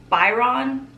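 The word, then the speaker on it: Boiron: It is this Sleep Calm Melt Away tablets by, I'm gonna probably say the name wrong, Biron, B-O-I-R-O-N.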